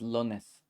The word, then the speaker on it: lunes: So instead of, because lunes, there's no such thing as an u sound, kind of in Nahuatl. You might see people pronounce this as lones sometimes. Jueves might sound like jueves, jueves. They're thinking of it as like an o kind of sound.